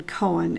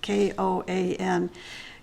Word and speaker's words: koan: There are two different pronunciations. One is koan and the other is koan. Either one. You go to Webster Dictionary on your internet and say pronounce this word, and several different places they pronounce it differently. So I've chosen to pronounce it as koan, but koan is acceptable as well.